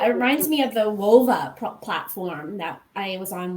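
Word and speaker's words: Whova: with that yeah it reminds me of the wova platform that i was on one event for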